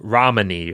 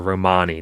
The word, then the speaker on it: Romani: Italian and also uh Romney or Romani depending on how you like to pronounce it right and so